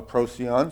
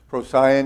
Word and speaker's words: Procyon: we come down to procyon or procyon some pronounce it procyon is the little dog